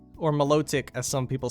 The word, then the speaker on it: Milotic: ugly fish idea better melodic or malotic as some people say according to the guide book it's pronounced Milotic but Pokemon pronunciations are